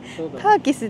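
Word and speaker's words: Takis: キス本当本当にターキスって読むとそう知らん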